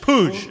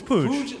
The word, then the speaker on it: Puig: It's just Puig. It's Puig.